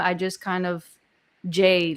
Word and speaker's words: Jae: So So it's pronounced Jay. Jay. Yeah. I've been calling you Jai this whole time.